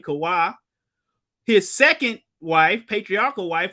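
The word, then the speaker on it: Chavah: While Eve, or that's the Hebrew way to say her name, Kawah, his second wife, patriarchal wife, was created from Adam's side.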